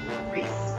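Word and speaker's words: Rhys: Reese sorry it's okay when I first play this game I mispronounced his name for like ever because he's not important enough to get his name pronounced in the narration oh God I think I called him I think I called him rist for a long time we're running out of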